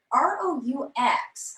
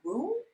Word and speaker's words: roux: Also, R-O-U-X. I'm not sure how you pronounce that. Roux? Roux.